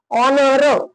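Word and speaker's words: honor: honest आता बघा पुढं अन ऑनर ऑनर ओ पासून सुरुवात झाली म्हणून अन ऑनर त्याच्यानंतर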